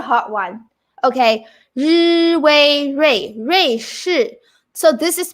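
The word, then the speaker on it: 瑞: Oh, Ray. Ri, wei, Ray. So UI is way sound. So Ray, shi, Ray, shi. This is a hard one. Switzerland. This is a hard one. Okay. Ri, wei, Ray.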